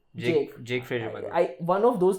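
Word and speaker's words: Jake Fraser-McGurk: Jack Fraser McGurk, I keep pronouncing his name wrong. Jake Fraser McGurk.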